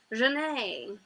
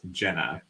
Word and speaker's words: Janae: instead of gina is janae in this book that's funny my uh my text to speech was pronouncing it as jenna oh really and when